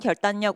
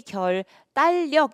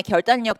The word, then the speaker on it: 결단력: 왜냐면 표준발음법에 이게 유음화가 아니고 비음마로 되는 그런 것들이 딱 정해져 있거든요.